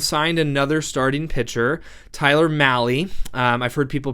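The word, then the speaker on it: Mahle: But anyway, the Giants uh went out and signed another starting pitcher, Tyler Mali. Um I've heard people pronounce his name Molly or male. It's based on my research, it rhymes with rally.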